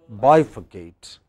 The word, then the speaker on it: bifurcate: Similarly, next, the third, two syllables before ate, bifurcate.